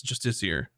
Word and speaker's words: justiciar: entire life, and that I just now learned in my 30s that it's justiciar. And then since Baldur's Gate 3 came out, that's what I thought. And then now I'm back full circle because we deep dived it, and justiciar and justicar are two different words, and justicar is a made up word in fantasy novels only.